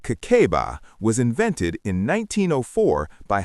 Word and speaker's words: Kakeibo: Kakeibo, pronounced Kakeiba, was invented in 1904 by Hani Motoko.